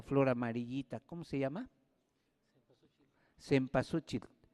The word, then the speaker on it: cempasúchil: tiempo se pasó chico se pronuncia de varias maneras se olviden se pasó che depende de la región donde se hable pero es flor 20